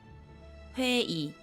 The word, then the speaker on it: 회의: comes at the end of a word, it's pronounced as 이, 회의, and when it's used as a possession particle, it's pronounced as 에, 그녀의 가방, pronunciation of the final consonant.